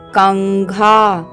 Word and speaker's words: कंघा: पंचमाक्षर है हलंत ंग तो यहां पर अनुस्वार का उच्चारण होगा हलंत ंग जैसा तो हम पढ़ेंगे इसे कंघा आइए बच्चों इसका वर्ण